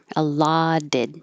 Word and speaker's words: allotted: The allotted, the T here, allotted, changes to a D.